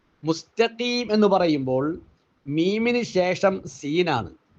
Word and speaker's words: المستقيم: ആണ് അടുത്ത അക്ഷരം കാഫാണ് നമ്മളിൽ പലരും ഈ തായിനെ ത്വാഇലേക്ക് മാറ്റി ശബ്ദം കനപ്പിച്ച് ത്വാഹ് ആണ് എന്ന രൂപത്തിൽ ഓതുന്നതായി കാണാം ഉച്ചാരണം കേൾക്കുമ്പോൾ ശബ്ദം കേൾക്കുമ്പോൾ അത് ത്വാഹ് ആയിട്ട് തന്നെ നമുക്ക് കേൾക്കാനും കഴിയും എങ്ങനെ സിറാത്തൽ മുസ്തഫീം മുസ്തഫീം ഇങ്ങനെ കനപ്പിച്ചു ഓതിയാൽ അത് ത്വാ ആയിട്ട് മാറും മാറും യഥാർത്ഥത്തിൽ അവിടെ അലിഫ് ബാഹ്